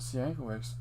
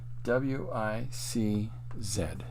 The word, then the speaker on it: Sienkiewicz: This is Bill, Bill, Sienkiewicz, Sienkiewicz. Now, this Sienkiewicz is how his father anglicized it and how it's pronounced.